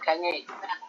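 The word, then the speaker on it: Gagné: Jadi mungkin masing-masing peneliti itu seperti Robert Gagne itu dia konsep bacanya Robert Gagne.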